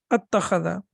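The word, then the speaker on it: أَتَّخَذَ: mutaharrik with mutaharrik, then that hamzat al-wasl, that is sakin, is not pronounced. So it becomes attakhadha.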